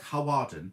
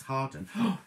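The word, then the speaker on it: Hawarden: hawa oh well harden you call that it's about harwarden but it's hardened anyway so there you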